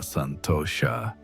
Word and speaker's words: santosha: She began to find what the sages call atma santosha pronounced santosha which means satisfaction in the self.